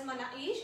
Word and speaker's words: manakish: The spelling says manakish, but K is silent in it, and it's called as manaish.